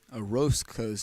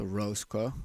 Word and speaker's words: Orozco: I have been informed just now that we've actually been pronouncing Orozco's name wrong. It's Orozco, not Orozco.